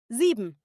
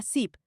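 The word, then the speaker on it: sieben: seis se pronuncia zex siete se pronuncia zib pero fíjate que en algunas conjugaciones se acorta a zip como en zip 70 se pronuncia a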